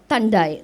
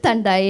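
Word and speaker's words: thandai: in kota girls uh tandai that's how we pronounce it tandai in field of flowers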